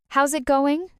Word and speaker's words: how's it going: How's it going? I hear that a lot in movies, but the pronunciation is tricky. It sounds like one fast word.